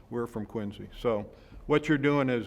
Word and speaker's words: Quincy: go out of Quincy people try to make you say Quincy and you always have to say no that might be how you say it in Illinois or wherever you're from That's not how we say it in Massachusetts we're from Quincy so